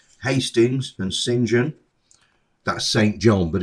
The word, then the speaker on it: St. John: John, that's St. John but it's pronounced St.